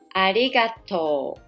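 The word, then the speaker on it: ありがとう: read this hiragana arigato we write arigato but to make it pronounce easier we say arigato the last letter U will be o as the second last letters vowel is also o so it will be arigato it means thank you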